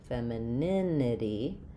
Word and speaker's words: femininity: And then when we change to femininity um we still again stress on the syllable right before the right before the ity. So feminin femininity, we're stressing on the nin syllable.